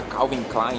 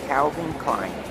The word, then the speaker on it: Calvin Klein: Que em português a gente fala Calvin Klein, né? Alguma coisa assim do tipo. Mas a pronúncia em inglês é Calvin Klein.